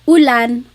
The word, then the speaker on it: ulan: So, ulan, rain and chair. Ooh, ooh. Not like under or umbrella. The letter U in Tagalog has an ooh sound.